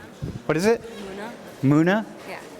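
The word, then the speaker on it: Mouna: Muna? Yeah. How do you spell it?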